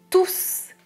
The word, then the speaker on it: tous: pas le s et si c'est un pronom règle numéro 2 je prononce le s je répète tout est